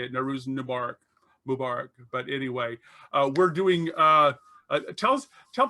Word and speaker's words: Nowruz Mubarak: Nowruz Mubarak I think is how you say it. Nowruz Mubarak.